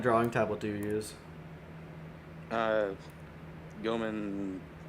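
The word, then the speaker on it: Gaomon: Goman P something. It's like I think it's a 15-inch. I don't know what Titan uses. How we pronounce it differently. I know. He says Goman and I say Gaoman.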